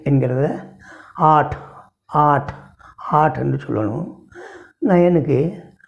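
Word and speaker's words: आठ: சாத் சாத் என்று சொல்லணும் எட்டாம் நம்பருக்கு 8 என்கிறதை ஆட் ஆட் ஆட் என்று சொல்லணும் 9க்கு நவ் 9 நவ்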